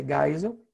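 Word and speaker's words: Geisel: aguardar Castelo Branco C Silva m gisel a pronúncia gisel e Figueiredo qual vem primeiro Castelo Branco ou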